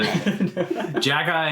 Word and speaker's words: Xhekaj: Xhekaj is Zay like Jack. it's the Xhekaj is like the very simplified version of it. So yeah, go with that. It starts with an X.